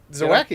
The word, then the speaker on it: Zawacki: Zawacki, yes.